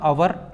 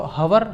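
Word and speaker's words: hour: द एच जो word है ये एच, ये क्या है, साइलेंट है, खामोश है, इसको नहीं पढ़ा जाता। जब इसको नहीं पढ़ा जाता तो साउंड इसका हुआ अवर, इसको हवर, हवर नहीं कहेंगे, इसको कहेंगे अवर, ये साइलेंट है चूँकि।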